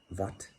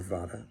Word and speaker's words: Vata: Vat, Pit, and Kapha. Or Vata, Pitta, and Kapha is the way that it looks like it should be pronounced.